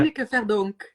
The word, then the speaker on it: Tineke Verdonk: Did I pronounce it yeah. properly? Yeah. Tineke Verdonk.